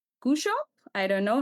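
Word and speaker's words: Cushop: And you had ERC proof of concepts grant for a project called Kushop. I don't know how to say it. Kushop.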